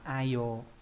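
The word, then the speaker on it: 愛用: Đấy, đây là chữ ái và chữ dụng, đọc là ai yo.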